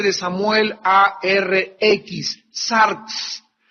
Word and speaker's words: sarx: La palabra carne es una palabra griega que se escribe sarx, S de Samuel A-R-X, sarx.